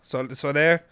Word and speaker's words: Soler: For instance, Carlos, is it Soler? Soler. Spanish. Soler.